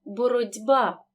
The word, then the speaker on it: боротьба: дзвінкий стає дзвінким наприклад у слові боротьба глухий чи перед дзвінким би тому він переходить у парний дзвінкий вимовляємо боротьба в слові вуксал глухий